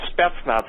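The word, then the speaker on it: Spetsnaz: weapons and again if you don't understand what steps knots is I will spell it s-p-e-t-s-n-a-z okay SP you know what their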